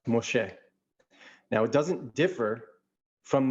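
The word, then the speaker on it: משה: It would be Mem Shin He, and it's pronounced Moshe.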